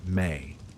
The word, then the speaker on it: me: They had a concept called ME, pronounced May.